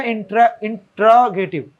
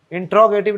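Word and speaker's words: interrogative: तो ये हो जाएगा इंट्रोगेटिव। इंट्रोगेटिव नहीं होता, उसको बोलते हैं क्या बोलते हैं, उसका राइट प्रोनाउंसिएशन क्या होता है, इंटेरोगेटिव।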